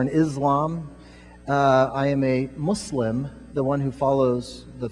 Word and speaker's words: Muslim: So Muslims pronounce it with an S, not a Z.